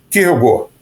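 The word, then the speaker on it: Kierkegaard: No Japão, o pessoal chama de quirukegar garudo e nos Estados Unidos chamam de Kirkegard. No Brasil a gente fala Kirkegard, mas o nome mesmo dele em dinamarquês é Kirugo.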